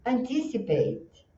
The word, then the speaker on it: Anticipate: Vamos falar um pouquinho da pronúncia. Olha, aqui você tem o que é que nem se fosse o Batman, Batman. Então ele não é um do português, ele faz um é. Nos filmes, quando eles falam that's Batman, é esse somzinho. Então aqui nós vamos falar o é, a sílaba tônica está no tis, e nós temos aqui one, two, three, four sílabas.